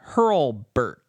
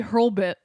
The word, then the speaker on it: Hurlbut: His name is Shane Hurlbutt. Hurlbutt. Yeah, it's Shane. How do you spell it? It's Hurlbutt. It's Hurlbutt. Hurlbutt. Maybe Hurlbit. But it's a U. Hurlbutt.